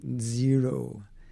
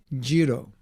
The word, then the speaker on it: zero: Or as they say in India, jiro. In Hindi, they don't have the word, the Z pronunciation. Did you know that? Z. If your parents are Indian, when they say zero, probably they say jiro. Because in at least in Indian languages, there's no Z, right?